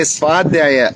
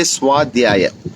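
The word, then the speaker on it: स्वाध्याय: It's like you don't say Swadhisthana, it's Swadhisthana. You don't say Swadhyaya, you say Swadhyaya. So that wa, so that wa. It's that combination where the V is becoming a W.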